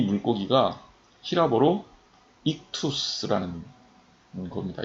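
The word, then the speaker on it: ἰχθύς: 근데 왜 제가 물고기 그림을 보여드리냐면 이 물고기가 히라보로 익투스라는 겁니다. 이걸 발음하면 익투스예요. 익투스 정확하게.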